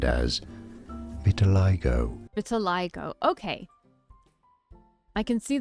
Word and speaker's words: vitiligo: Now that I'm so close to him, I can see the vitilig vitilig vitiligo.